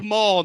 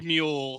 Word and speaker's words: Muhl: My name's actually Maul, not Mule.